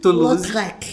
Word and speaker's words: Toulouse-Lautrec: Então escreve Lautrec e a gente fala Lautrec.